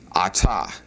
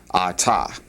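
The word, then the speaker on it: את: And then if we wanted to say we in the plural, this is what you're looking at right here, and that'd be anachnu, anachnu.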